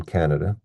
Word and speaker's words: Canada: Since I'm from Canada, let's take a look at that word. It has three syllables, ka, na, da. So we stress the first one here.